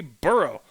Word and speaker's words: burgh: would use b-u-r-g-h and the correct pronunciation would be burrow if it was named